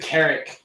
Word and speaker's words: Carrick: was copying him car or is it Carrick Carrick like carrot corrected on my sheet